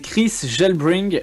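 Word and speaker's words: KrisJelbring: c'est Chris Gelbring. Alors ça s'écrit comme ça, K-R-I-S-J-E-L-B-R-I-N-G.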